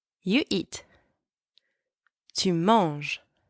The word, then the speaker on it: manges: Tu manges. You eat. Tu manges. And don't pronounce the S at the end.